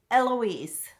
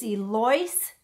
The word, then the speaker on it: Eloise: L Oh is V which most people pronounce Eloise but my grandmother raised her telling her her name is Elise it was a French